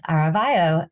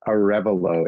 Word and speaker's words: Arevalo: am pleased to have with me today aravayo the owner and operator of verducci event Productions hi hey how's it going Paige it's actually pronounced Arevalo it's a tough one thank you for accepting